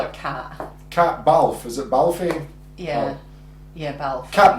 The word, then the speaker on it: Balfe: How do you pronounce her name? We'll just call her Cat. Cat Balfe. Is it Balfe?